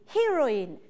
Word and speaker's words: heroine: Escucha la diferencia entre the hero y the heroine. Finaliza E-I-N, entonces tenemos diferente pronunciación.